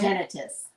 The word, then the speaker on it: tinnitus: when you start getting tinnitus, it's I thought it was tinnitus. Tendonitis. No, that's not it. That's not it. Tinnitus. That's how you say it.